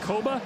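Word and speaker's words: Kpogba: Winston-Salem, North Carolina, and nobody knew how to pronounce his name when he was young. And when he first started reading, Adam, he pronounced it Koba. And so everyone said, all right, that's what your last name is, Koba.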